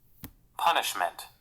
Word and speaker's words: punishment: Punishment. Punishment. तो देखिए ये लोग ऑलमोस्ट फनिशमेंट बोल देता है, तो फनिशमेंट बोलने की जरूरत नहीं है। वी can still pronounce this as पनिशमेंट।